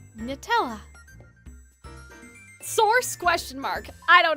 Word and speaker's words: Nutella: You don't double pronounce the T. It's not nut.